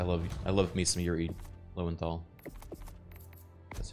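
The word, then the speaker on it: Yuri Lowenthal: Yuri's voice I love I love me some Yuri lenthal that's how you pronounce his name it's so like I fight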